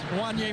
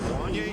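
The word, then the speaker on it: Wanya: it says, is it Wanye? Because he said, it looks like it rhymes with Kanye. And I said, only in this day and age would we use Kanye as a reference to pronounce Wanye.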